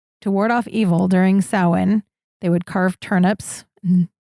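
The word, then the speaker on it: Samhain: So, if you're going about your day, reading about it is going to look like Sam Hane. It is pronounced sin.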